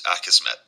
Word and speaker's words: Akismet: is called I don't actually know how to pronounce it correctly I believe it's akismet okay so get into plugins and then I